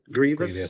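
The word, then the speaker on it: Grevioux: Kevin Grievous. Is that how it's pronounced? Grievous.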